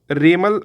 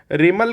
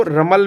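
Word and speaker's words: Remal: है उसका नाम है रेमल साइक्लोन। चलिए इसके बारे में जान लेते हैं। रेमल साइक्लोन क्या है। रेमल को रमल भी बोलते हैं, लेकिन करेक्ट प्रोनाउंसिएशन रेमल है, उससे कोई मतलब नहीं है।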